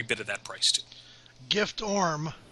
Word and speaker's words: Giftorm: Gift Orm is in good form as we subtract the F from the pronunciation of his name.